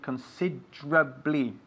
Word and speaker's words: considerably: but we pronounce it considerably so the e like consider is lost would you say consider blee okay say it considerably